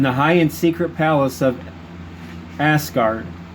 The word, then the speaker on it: Asgard: high-end secret palace of asgard there you go with that word ass again a-s-g-a-r-d as asgard the brave lord roland